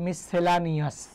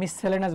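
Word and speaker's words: miscellaneous: আমরা টপিক বলি যে মিসসেলেনাস টপিক পড়বো আমরা, হ্যাঁ, উচ্চারণ আমরা করি এইভাবে যে মিসসেলেনাস, বাট ইংরেজিতে আপনি উচ্চারণ করেন কীভাবে? মিসসেলানিয়াস। এই মিসসেলেনাস বানানটা কি?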